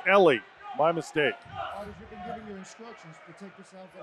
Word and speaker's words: Elie: from Denver Colorado Al why excuse me I pronounced the name of this Eli it's Ellie my mistake your instruction at all time my